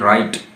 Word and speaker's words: write: इसमें W silent है, डब्ल्यू के बाद जब भी आर आएगा डब्ल्यू साइलेंट हो जाएगा, जिस तरह रेट, WRIT रेट, WRITE राइट, ठीक है, WRONG रॉन्ग, तो WRING रिंग, ठीक है जी।